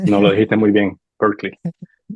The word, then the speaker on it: Berkeley: corregir la pronunciación, no hay ningún problema, ¿viste? No lo dijiste muy bien, Berkeley. Berkeley.